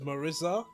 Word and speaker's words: Marisa: By the way, I love the look of confusion when I tell people that Marissa from Street Fighter 6 is pronounced Marissa in Italian.